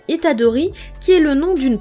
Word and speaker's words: Itadori: Pour terminer cette vidéo, je vais vous partager quelques anecdotes sur le personnage de Yuji Itadori.